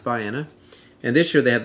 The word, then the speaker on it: Vienna: nap sipped down to Vienna looks like Vienna but it's pronounced by Anna and this year they